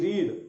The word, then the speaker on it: read: Form same होती है, लेकिन प्रोनाउंसिएशन अलग होता है। जैसे मैं कहूं रीड और इसकी जो तीनों फॉर्म में लिख रहा हूं, देखिएगा फर्स्ट फॉर्म जो है इसका प्रोनाउंसिएशन तो रीड होगा, लेकिन सेकंड और जो थर्ड फॉर्म है इनको हम बोलेंगे रेड, रीड रेड रेड।